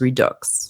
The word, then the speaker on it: redux: As a French person, I do pronounce the X in redux. So I was pronouncing it wrong. It is redux.